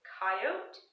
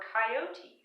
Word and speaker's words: coyote: word so I actually I was trying to figure out if I should say coyote or coyote so I looked it up in the dictionary and you can actually say it both ways but I use a